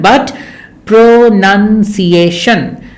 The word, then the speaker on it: pronunciation: how it is pronounced it is not pronunciation it is not pronunciation but pronunciation pronunciation so pronunciation as noun has n u n but pronounced as a verb has a has an extra O So pronouns but pronunciation